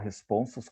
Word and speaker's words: responsos: Ele rima responsos com alfonsos, porque ele sabe que nós vamos pronunciar responsos com U no final, não com O.